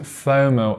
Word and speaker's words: FOMO: missing out fomo and we have to pronounce it fomo and not f-o-m-o okay think about when